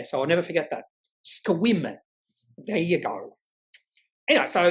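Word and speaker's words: Sequim: And he just laughed and went, "Yeah, the e is silent." Went what? It's spelled it's spelled um or it's pronounced squim. Uh yeah, you're silent. And yeah, so I'll never forget that. Squim.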